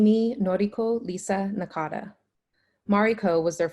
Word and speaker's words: Nori: Mom calls me for a while and then Nori. For some reason, Chet calls me or. Nori is the name that sticks. Nori pronounced like Lori, but with an N.